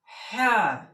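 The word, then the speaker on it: حاء: হ্যাঁ। হয় চন্দ্রমন্দ্র আকার হ্যাঁ। হ্যাঁ উচ্চারণ হবে, জিহ্বাটা হলকের শেষ হতে এরকম আওয়াজ আসে, হ্যাঁ। একটু গলা চিপিয়ে বলবেন, হ্যাঁ।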